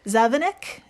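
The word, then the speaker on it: zavináč: So in Czech, the Czech Republic, it's pronounced závanek, meaning roll mop or pickled herring.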